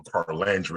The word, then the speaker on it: Carlandria: That's why I invited Carlandria, and I think I realized I had been saying your name wrong. Is I think I was skipping over the R.